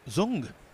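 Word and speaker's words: Dương: on the TV crew apparently dng is pronounced zung oh with a like a z like a z oh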